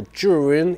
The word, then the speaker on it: Zhiyun: and I'm actually very proud to say Zhiyun, which means smart cloud or clouds of wisdom, something associated to wisdom and clouds. So Zhiyun is the right pronunciation of this light.